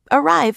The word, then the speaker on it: arrive: Arrive is also stressed on the second syllable.